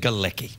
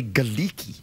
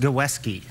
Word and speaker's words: Galecki: something you know that I said giki yes and that's your name correct right but I have this urge to say giki that would be wrong I know but I think it was originally pronounced gesy gesy and is it polish yes I see have